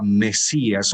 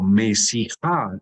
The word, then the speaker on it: Mesías: Yo me imagino que sabemos qué significa la palabra hebrea Mesías o Mesijá. La estoy pronunciando Mesías ya en nuestra lengua castellana.